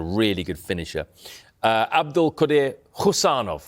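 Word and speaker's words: Khusanov: Abdul Qadir Husanov, that's how we pronounce it, isn't it? It's a silent K, Husanov.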